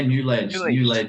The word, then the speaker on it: Newledge: Yeah, New Age as in knowledge.